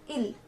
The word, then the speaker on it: il: So for he, we call he in French as il.